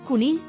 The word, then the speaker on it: conill: While Catalan has quite a few dialects, the standard Catalan in Barcelona pronounces unaccented a and e as schwa and unaccented o as u, so Barcelona is pronounced as Barcelona, and rabbit is pronounced as conill, Another important feature of